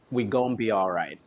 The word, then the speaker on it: We Gon Be Alright: We Gon Be Alright is how you pronounce it.